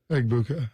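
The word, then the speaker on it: Egbuka: Eggbuka. Eggbuka. What does it say? EB. Is it just over the G? IA. Yeah. Eggbuka. That's how it's pronounced.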